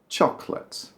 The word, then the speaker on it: chocolate: Chocolate. Chocolate. It's more like two syllables, really. Chocolate. There's a sort of skip in the middle. You can sort of say chocolate, but most people just say chocolate.